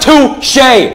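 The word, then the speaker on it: touché: No, it's pronounced touche, bro. It's pronounced touch. No, you dumbass. It's pronounced touche.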